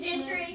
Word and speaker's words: Gentry: Miss Gentry. Okay, so where's the stress? Gentry.